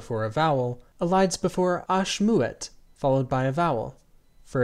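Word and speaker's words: ache: from oxin in French the name of the letter is written as a c h e and pronounced Ash the French orthography classifies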